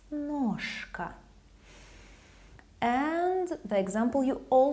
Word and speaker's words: ножка: Voiceless K makes letter Ž lose its voice, so it sounds as its voiceless counterpart. Ножка, ножка. It's not ножка, it's ножка.